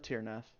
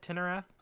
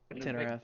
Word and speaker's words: Tinnerath: in the tomb of Tirnath. What is this? Oh, Some kind of annihilation. Doom of Tirnath? God, tomb of Tirnath. Isn't it Tinnerath? Tinerath, you're right. I mispronounced it.